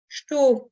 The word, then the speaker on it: estou: O, donc nasale, não, estou, donc avec le S qui se prononce ch, et le OU qui va se prononcer O, muito, donc le U